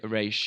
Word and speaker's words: Ra's: But yeah, that goes from Roz or Raish. Yeah. I think it's Roz, Ross, and Raish. But the two common ones are Raish and Roz.